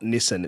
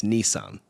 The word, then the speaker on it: Nissan: the same way that it's not Subaru it's Subaru it's not Nissan it's Nissan those are the correct pronunciations and funnily enough the Americans actually pronounce it correctly which is weird right